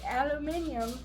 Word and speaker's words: aluminum: foil this is actually we call it aluminum foil because that's how it's spelled uh aluminum aluminum that's how it's spelled here in the United States you guys overseas say aluminium because there's extra letters in it if you look at